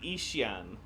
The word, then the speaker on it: Yixian: to be Ishian.